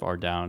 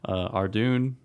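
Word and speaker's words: Ardougne: I should probably call it Ardy instead of Ardown because you guys are going to really hate how I pronounce it probably. But Ardoon, Ardy, yeah.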